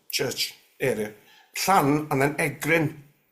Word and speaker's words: Egryn: this sort of church area plan and then egrin and yeah egrin e g r r y n that's right I wasn't sure how to pronounce it you got it that's a spot